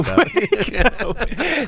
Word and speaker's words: Waco: That's pronounced Waco. Waco.